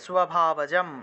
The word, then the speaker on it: স্বভাবজম: স্বভাবজম অর্থাৎ ব্রহ্মকর্ম স্বভাব, দন্তীয় স্বরের নিচে বফলা আছে, বফলা থাকলে স্ব উচ্চারণ হয়, স্ব, ঠিক আছে, স্বভাবজম এইভাবে উচ্চারণটা আসবে।